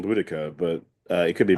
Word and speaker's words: Boudica: prefer saying Boudica, but it could be I, I, Bodicea. I I, don't know. you know what? Let's say the official policy on doctors, not doctors, is that it's pronounced Boudica.